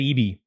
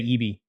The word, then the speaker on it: Eby: So I heard Cooper say Eby. I feel like he knows better than I do. He spends a lot of time covering that area. So phonetically, it just doesn't work for me, but that's fine. Eby. Let's go with that.